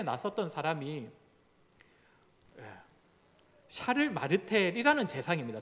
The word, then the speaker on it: 샤를: 못할 때 나섰던 사람이 샤를 마르텔이라는 재상입니다. 저 당시의 재상 이름이 샤를 마르텔입니다. 샤를은 그 프랑스 발음이고 영어식으로 하면 찰스죠, 찰스.